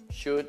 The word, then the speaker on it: should: Quelli più importanti in inglese, quelli più usati, would, could, should, non si pronuncia L.